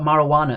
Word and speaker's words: marijuana: spanish we've had the j is actually an english addition to the word so well done if you've got marijuana as well that is the only english word with a silent j do you pronounce it